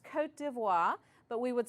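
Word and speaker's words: Côte d'Ivoire: Sierra Leone and Liberia the next country has a French name it's pronounced Cote d'Ivoire but we would say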